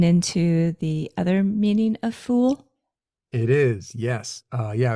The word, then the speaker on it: fuil: in Scotland uh so the actual Gaelic pronunciation is f or fool and if someone calls